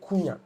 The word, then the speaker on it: Cunha: The H is silent. So you can say Kunya.